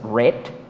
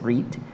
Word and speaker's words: read: del verbo read, bien, que el pasado es read y el presente es read, aquí la pronunciación es la que cambia.